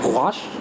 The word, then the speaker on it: gouache: Gouache? Gouache. Yes, very Can good. you pronounce it?